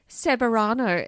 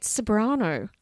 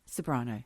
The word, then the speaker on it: Ceberano: Kate Severano. Speaking of Kate Ceberano, and I know that's not really how you say her name. How do you say it? Kate Ceberano. Ceberano, yes.